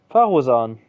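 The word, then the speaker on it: Faruzan: Fasura, nee. Fasuran, oh Gott, keine Ahnung. Mal, wie wird er ausgesprochen? Farusan, genau.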